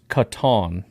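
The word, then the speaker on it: Kitan: his first name is pronounced Catan. Yep. All right. I said that once. Catan Oladapo.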